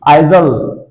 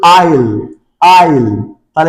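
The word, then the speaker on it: aisle: এ আই এস এল ই আইজল। আইজাল নো এর উচ্চারণ আইজল না তাহলে উচ্চারণ কি আইল আইল তাহলে এখানে এ এবং এস সাইলেন্ট থাকবে আইল আইল আইল এফ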